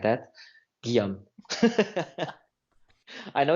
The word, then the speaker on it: Guillaume: it gee-gees enough so my name is it sounds like Chinese when I say like that Geum I know it's hard